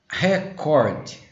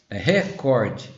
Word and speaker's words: recorde: forma show fluido condor recorde recorde você não tá falando uma palavra em inglês se não tivesse o erro que seria record mas como é em